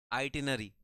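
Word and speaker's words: itinerary: आइटनरी बोलते हैं आइटनरी। ठीक है? बोलते हैं आइटिनरी। लेकिन देखो स्पेलिंग क्या है?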